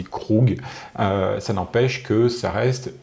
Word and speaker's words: Krug: Parce que moi je dis Krug mais en fait c'est Krug.